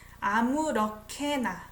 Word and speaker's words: 아무렇게나: 아무렇게나. I pronounce it as K.